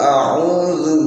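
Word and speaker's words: أَعُوذُ: Qul a'udzu, hamzah dulu baru ain. A'udzu, dan ini zal bukan dal, bukan qul a'udzu, bukan, tapi qul a'udzu birabbil falaq.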